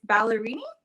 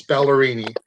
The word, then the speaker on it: Ballerini: I don't know how to pronounce her last name, so do not come for me. It's Ballerini. Yes, Ballerini.